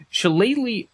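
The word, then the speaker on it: Shillelagh: that spell is chal which yes is how you pronounce it chal uh says that it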